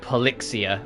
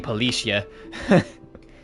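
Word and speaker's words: Polyxia: Oh, that's how you pronounce it. Pelixia. I've been saying Pelicia.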